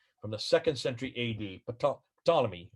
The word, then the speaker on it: Ptolemy: the second century a.d ptolemy you don't pretend you don't uh pronounce his let his first letter p just say ptolemy but i see it